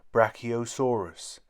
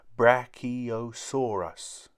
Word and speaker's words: brachiosaurus: its back legs how do you say it brachiosaurus say brachiosaurus in the forest many animals live in forests